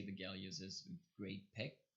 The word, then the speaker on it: Galios: The name of the lens is Galios.